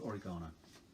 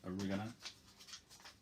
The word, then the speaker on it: oregano: Okay, what about a bit of oregano? Or as Americans say, oregano.